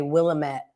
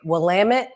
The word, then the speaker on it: Willamette: I know a lot of people mispronounce and say Willamette. They get very upset about that out in Oregon. And they say Willamette, it rhymes with damn it.